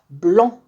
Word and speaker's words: blanc: mâles à al bayda blanc le sait ne se prononcent pas blanc bah oui je m'appelle